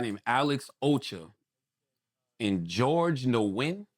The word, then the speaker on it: Nguyen: uh another guy named Alex Ocho and George Nguyen. How do you pronounce it, Chris? Is it is Nguyen a Vietnamese name? N G N G U Y E N Nguyen is closest, yeah.